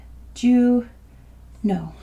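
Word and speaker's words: Juneau: one for you too it's just pronounced Jew no do you know and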